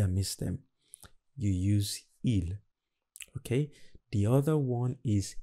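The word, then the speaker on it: ils: the next one is ill okay just pronounce as i l but it's plural they are happy is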